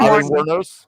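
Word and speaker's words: Wuornos: Zen, um Ailen, I don't know how you pronounce her last name, Warren. Waros.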